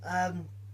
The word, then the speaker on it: Gramm: That's Graham, not like Graham, not like how the Americans pronounce Graham, not the way Americans pronounce Graham. Graham crackers. Graham crackers, exactly, yeah. We say Graham. Gramm.